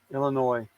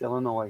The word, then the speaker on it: Illinois: Illinois, not Illinois. It's Illinois. Say it right, Marvin.